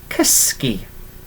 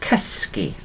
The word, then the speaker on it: cysgu: Okay, and to sleep in Welsh and Gymraeg is cysgu. Okay, cysgu. Okay, is literally to sleep. Cysgu. Okay, so I'll write this one down for you again. Yeah, literally. There we are. So we've got cysgu, which is to sleep, and we pronounce it